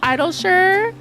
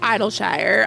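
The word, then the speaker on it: Idyllshire: I was wondering if it was Idleshire, because in general, when Shire is a suffix, it's pronounced sure, like Worcester or New Hampshire.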